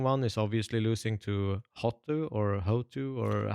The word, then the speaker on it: HOTU: the most disappointing one is obviously losing to Hotu or Hotu, or how do you ever you want to Yeah, so you're pronounce supposed that? to say hoto, like that, Hoto, basically.